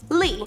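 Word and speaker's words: 李: during the Tang Dynasty, because carp has the same pronunciation as the Tang Emperor's last name, Li.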